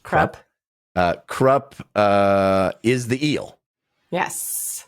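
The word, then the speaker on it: Kruppe: His name is pronounced Krupp.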